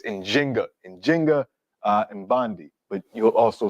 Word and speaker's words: Njinga: modern scholarship has shown the more correct way to pronounce her name and in Kimbundu, the language that she spoke is with the J. So it's Njinga, and Bandi, but you'll also see Nzinga.